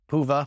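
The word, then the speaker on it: Hyvä: Huva, which I've mentioned before, which is an amazing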